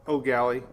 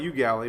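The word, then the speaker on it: Eau Gallie: city to ever spell oh galley because e-a-u and i think you pronounce it oh galley right it's probably you gally but it's my mom and dad called it oh galley um let's see what's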